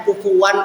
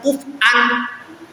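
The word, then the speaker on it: كفوا: Kalau Hamzah setiap ada Hamzah berhenti. Contohnya kufuwan, kalau di Waras bacanya kufuwan ahad, tapi kalau di Hamzah kufan ahad, jadi kayak ada saktahnya ya.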